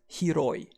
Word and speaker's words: 広い: We pronounce wide or spacious as hiroi. And a good way to remember hiroi for wide or spacious is the hero has wide shoulders.